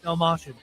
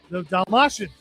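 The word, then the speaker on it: Dastmalchian: It's got Dave Dashlell, or how you say his name? Dalmatian. Dalmatian.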